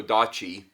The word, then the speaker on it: odachi: big box um yeah when I unpack the odachi I said it right this time guys uh